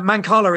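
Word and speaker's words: mancala: of the game Marcus yes it's uh manala is the is the right way to pronounce it it's actually a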